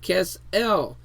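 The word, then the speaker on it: כֶּסֶל: That there is the H3689, the Kesel, pronounced Kesel, meaning to trust, to have confidence.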